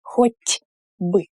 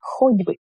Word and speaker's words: хоть бы: And the t here also becomes voiced when it precedes b. So хоть бы. We don't say хоть бы. We say хоть бы. It's easier to say it like this. And the emphasis is here. Хоть бы. I is not stressed.